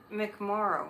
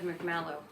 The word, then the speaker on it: McMorrow: So start visualizing the Democrats getting real tough and real strong, like Mallory McMorrow. I think I said her name wrong the other night. I think I said McMallow.